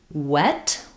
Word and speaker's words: wet: So if I'm saying a word like wet wet, you can see my lips are rounded. You can uh hear the w sound versus the vv sound is a continuing sound.